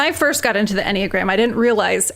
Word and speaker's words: Enneagram: And for those who are maybe unfamiliar, and I hope I am pronouncing it correctly, Enneagram?